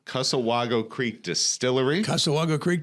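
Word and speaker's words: Cussewago: correct me one one more time on the pronunciation kusawago casawago casawago Creek Distillery Casa Wago Creek Distillery in the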